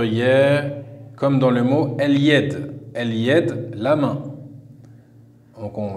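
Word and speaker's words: اليد: Et enfin, la dernière lettre lunaire, la lettre ya, comme dans le mot el-yed. El-yed, la main. Donc on va revérifier les trois règles. La lettre lem s'écrit et se prononce.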